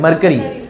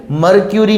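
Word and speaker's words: Mercury: मरकरी। मरक्यूरी नहीं बोलना है। मरकरी।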